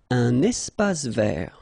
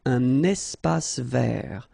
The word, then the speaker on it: espace vert: Un espace vert. First thing, you get this little link between the two. Un espace vert. Final E not pronounced, and then final T not pronounced. Un espace vert.